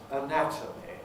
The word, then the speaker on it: anatomy: similar like anatomic but anatomy now obviously they're related they have the same spelling but yet their pronunciation is really rather different because we say anatomic and i think i've